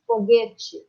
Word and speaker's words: foguete: por causa do regionalismo, tem uma tendência para falar com I, como se fosse foguete. Tá? Escreve-se com E. E, dependendo da região onde a pessoa morar, ela vai pronunciar como se fosse um I. Foguete. Foguete. E outras regiões, eles vão pronunciar exatamente como se escreve aqui, ó. Foguete. E algumas regiões, foguete.